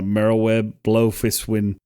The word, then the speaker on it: Merlwyb Bloefhiswyn: You can you can switch between the three grand companies and I'm a simp for uh Merlwyb Bloefhiswyn.